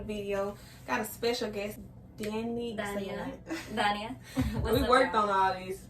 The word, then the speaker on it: Daniah: Okay, Daniel. Dania. Why do I want to say Daniel? That's just how it's spelled.